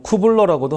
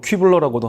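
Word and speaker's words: Kübler: 투블러와 로스의 인종의 5단계입니다 뭐 쿠블러라고도 하고 또 독일 발음으로 큐블러라고도 하고 그렇습니다 시험에도 다 나오고요이 임종이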